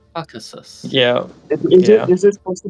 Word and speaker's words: Caucasus: Co what is it how do you say it it's just cockus Kus cockus it's not it's the Caucasus Caucasus CAU yeah roaches right